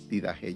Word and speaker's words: Didaché: conocida como did didaché porque tiene un acento en la e al final y según se pronuncia con la J al final didaje didajé yo no sé cuántos de